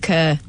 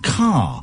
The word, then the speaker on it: Kerr: Judith Kerr. Wrong. Incorrect. Incorrect answer. K. Incorrect answer. Go on then. It's pronounced Judith Carr despite being spelled K E R.